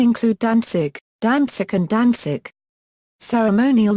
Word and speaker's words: Danzig: The German name, Danzig, is pronounced as, Danzig.